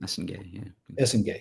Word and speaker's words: Essengue: 8.4, Noa Essengue. Is that how you say it? Essengue, yeah.